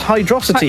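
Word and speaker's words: Hydrocity: means but uh it's hydrosity hyd velocity and viscosity hydrosity rhymes with velocity yes but I was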